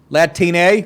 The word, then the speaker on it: Latine: I guess that's how you pronounce it, like latrine. Latine.